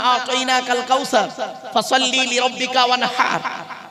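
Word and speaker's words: وَانْحَرْ: কাল কাউসার ফসল্লি লিরব্বিকা ওয়ানহার ওয়ানহার ওয়ানহার এই গলার ভেতর থেকে হে এটা উচ্চারণ করবে হাই হুতি হাই হাওয়াজ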